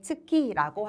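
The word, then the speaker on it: 月: 그래서 달, 한 글자짜리 한자는 네, 츠키라고 하는 훈독으로 발음해 주시면 됩니다.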